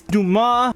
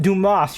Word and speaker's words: Dumas: Like it's Duma, not Dumas. You don't pronounce the S.